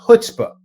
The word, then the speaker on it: chutzpah: Some people drop the c right from the front, and they go straight to chutzpah. Think of it as a stop sign in New York. It's kind of there, but it's not really important, right? So you can go right through that and not worry too much.